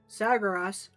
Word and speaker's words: Sargeras: I find it funny that this story of our fight with Sargeras or was the game originally called him Saras. Sybr was two two syllables instead of three.